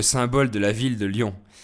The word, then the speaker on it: Lyon: de la ville de Lyon. Ce sont deux écritures différentes pour la même prononciation.